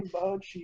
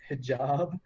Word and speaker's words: hijab: I'm wearing hibachi. He's like, what? What did you just say? He's like, I'm wearing hibachi. He's like, you mean hijab? That's how you say it?